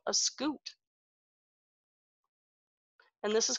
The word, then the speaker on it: scute: It has a pronunciation here that says, tells me how to say it. This is a scute. Scutes are bony plates that protect some animals.